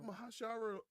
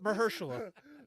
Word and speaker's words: Mahershala: But it had Mahashara Ali. I can't say his name I either. fucked it up. I drank too much Abuelo. Mahershala.